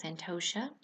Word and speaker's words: Santosha: the niyama of contentment which is pronounced santosha in sanskrit and so i've been